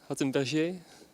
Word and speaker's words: Hattenberger: Is it the French pronunciation? Hattenberger? No. The German one, okay.